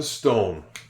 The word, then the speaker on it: stone: The E here is silent. Again, we know that it's going to be silent because there's another vowel O before it in the word.